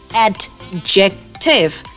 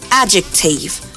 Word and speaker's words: adjective: it and we say adjective but that is totally wrong here the letter d is silent so it's adjective subject plus verb plus